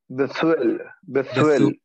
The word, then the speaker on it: Bethuel: Bethuel is a separate sound. Bethuel. That's it. Bethuel. Nachon, correct. Bethuel.